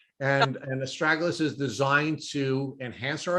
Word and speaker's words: astragalus: started taking um and I know people pronounce this this herb differently either aralis or astragalus and and astragalus is designed to enhance